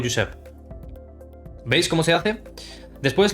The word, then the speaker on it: Josep: Como por ejemplo, Joan, Jordi, Josep se pronuncia con J como una Y. Por ejemplo, Joan, Jordi o Josep.